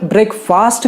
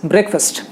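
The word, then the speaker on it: breakfast: फिर ब्रेकफास्ट कितने लोग कहते हैं, बिल्कुल गलत है, it should be called as ब्रेकफास्ट। जो ए है ना वो थोड़ा सा साइलेंट है, पूरी तरह से साइलेंट नहीं है, मैंने पूरी तरह से कट नहीं किया उसे, क्योंकि फर्स्ट में भी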